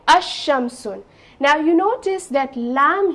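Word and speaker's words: الشمس: i have the sun so can i say al-sham sun it doesn't make sense right it it doesn't look you know nice okay while pronouncing so i will say asham soon now you notice that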